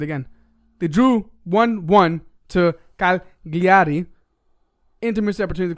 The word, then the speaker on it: Cagliari: They drew 1-1 to Cagliari. Inter missed the opportunity to close the gap. It's pronounced Calgary. Well, that's the English version. I'm trying to be Italian.